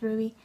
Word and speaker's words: RWBY: it's R WBY y there's a reason for it why it's spelled that way but it's pronounced Ruby oh it's just so